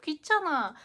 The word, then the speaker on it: 귀찮아: In most cases, here this consonant is silent, uh, unless a syllable starts with this consonant. We often pronounce it in a silent way. So in the first place, it's almost the same